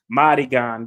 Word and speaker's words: Madigan: Pronounced Madigan.